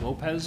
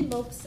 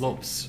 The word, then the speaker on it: Lopes: We are here with our next candidate, Angie Lopez Ellison. Is that the correct pronunciation? Angie Lopes Ellison. Lopes. Yes. Okay, I've seen that second name pronounced different ways.